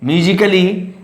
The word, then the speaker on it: musically: Musically A letter is silent.